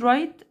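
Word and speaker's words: write: فيد فيد وير ور وكلمه رايت اي دبليو وراها ار الدبليو بتكون سايلنت في النطق تمام طيب التعبيرات وحروف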